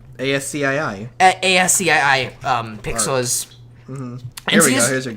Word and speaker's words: ASCII: How is it pronounced? ASCII.